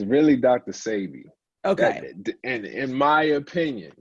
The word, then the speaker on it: Sebi: Like, what is the correct way to pronounce? Because I heard Sebi, Sebi. Which one is correct? It's really Dr. Sebi.